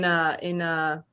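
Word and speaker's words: Machete: they always reference like Danny in Macheta. That's how they say it in Poland.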